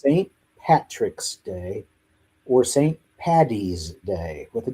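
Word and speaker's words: Paddy's Day: Patty's Day with a D. Okay? Because his name in Gaelic is Patrick. If you call it Patty's Day or St.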